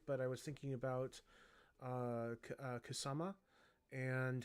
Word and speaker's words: Kusama: That's how you say her name, Kusama.